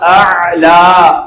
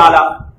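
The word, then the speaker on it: أعلى: সুবহানা রাব্বিয়াল আ'লা, তো আলা নয়, আ'লা, হামজা আইন লাম। তো এই জিনিসটা আমাদেরকে অবশ্যই, এটা সিজদার তাসবিহ। তো হামজা এবং আইন দুটোটা উচ্চারণ করতে হবে আমাদেরকে।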